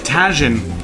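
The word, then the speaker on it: Tajín: Sure, it's pronounced and spelt tajin, but it's orange like saffron, so we might use this.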